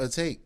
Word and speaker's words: Atake: I at first I was pronouncing it Atake. Same, You know, my whole Japanese shit. But he was like, yeah, it's on the album. It says Eternal Take.